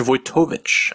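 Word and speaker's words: Wojtowicz: Vtovich. Voytovich, actually.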